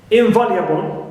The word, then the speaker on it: invaluable: and to is stressed invaluable in neutal V is stressed right also I have